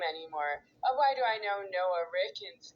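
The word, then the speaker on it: Noah Rickun: Starts with capital N O A H space capital R I C K U N. To be Noah Ricken.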